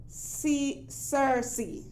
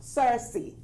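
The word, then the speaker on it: cerasee: Sirasi, which is pronounced Sirsi. Yes, that's how it's pronounced, Sirsi.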